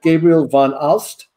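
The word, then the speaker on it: Gabriel van Aalst: Gabriel von Alst.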